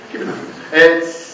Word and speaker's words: Kubernetes: Can I just pronounce it? Wait for a response. Thank you. Kubernetes.